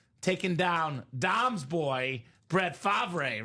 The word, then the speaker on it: Favre: I had the single season sack record taken down Dom's boy, Brett Favre, right? It is Favre. I just call him Favre. Just so they know I didn't butcher that.